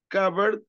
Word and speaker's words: cupboard: بيقول لنا ما تنساش be in the word cupboard is silent. We don't say it. Cupboard, cupboard, ال P silent.